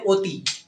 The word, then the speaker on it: অতি: আর অ এর উচ্চারণ হয় ও এর মত। যেমন হচ্ছে অতি। অতি দেখ অতি। অতি এখানে ও এর উচ্চারণ ও এর মত।